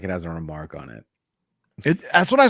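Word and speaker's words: remarque: only thing odd is how you say remark you say remark it's a remark like you're remarking upon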